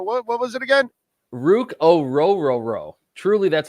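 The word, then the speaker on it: Orhorhoro: Rook yes I love Rook I love R Rook o Roo is how you pronounce it apparently is that it how is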